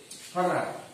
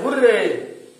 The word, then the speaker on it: hurrah: Hurrah. We say hooray. The correct pronunciation is hurrah.